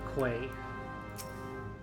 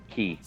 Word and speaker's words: Quay: Journey to Candlekeep Quay. Key. Key. Key.